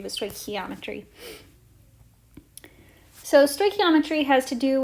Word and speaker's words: stoichiometry: this is called stoichiometry so that's how you pronounce this so this is stoy key ometry don't not not chi not stoichiometry but stoichiometry so stoichiometry has to do with the law